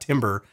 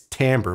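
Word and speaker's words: timbre: I didn't even know how to pronounce tamber until like two or three years ago it's not Timber it's tamber but it looks really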